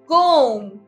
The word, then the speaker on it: comb: कोम, हम कोम ब नहीं बोलते, हम कोम बोलते हैं जिसमें बी इज ऑलवेज साइलेंट.